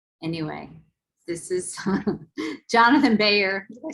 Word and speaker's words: Byrer: Anyway, this is Jonathan Byrer. Did I say it wrong? Byrer, yeah, that's pretty good.